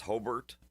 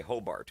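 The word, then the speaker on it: Hébert: Well I and what I was listening for was you know everybody it's Hbert but you know folks when they read it they say Hobart because you know that's how it's spelled but you said Hbert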